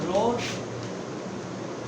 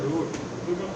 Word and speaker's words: route: ঠিক আছে, রোড স্যার এটার উচ্চারণটা কি হবে? রুট রোড of drug administration.